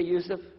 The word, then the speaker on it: Yusuf: Can you say Yusuf? You say Yusuf. Yeah, very good. I wish you'd teach my wife. She keeps mispronouncing it.